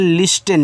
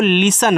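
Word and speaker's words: listen: यानी कि एस के बाद टी है तो इसको आधा कर देते हैं भैया। लिस्टेन नहीं इसको लिसन पढ़ते हैं।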